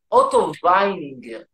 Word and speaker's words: Otto Weininger: By the Otto, if you want to be European, Otto Weininger, because he was from Austria, and it's written with W, but it's pronounced V.